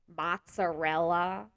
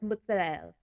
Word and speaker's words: mozzarella: It's prosciutto, prosciutto, or people say mozzarella, and I'm like, no, it's mozzarella, or it's ricotta, not ricotta.